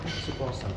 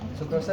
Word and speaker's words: sukrosa: Aku lihat bahasanya sukosa gula pas. Sukrosa itu gula pasirnya enggak glukosa. Glukosa enggak sukrosa. Sukrosa. Sukrosa itu gula pasir.